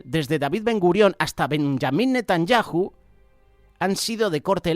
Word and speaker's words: Benjamín: Recordar que Benjamín Netanyahu, aquí lo decimos en España, Benjamín, cuando su pronunciación sería Benjamín Netanyahu, de la corriente conservadora